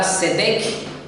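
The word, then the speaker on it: צדק: Justicia, según el hebreo, está la palabra tzedek, con T al principio, pero no la pronuncio, y la otra tzedakah.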